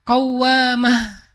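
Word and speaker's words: قوّامة: Kalau rajin salat malam dikasih tasdid bacanya jadi qawwamah.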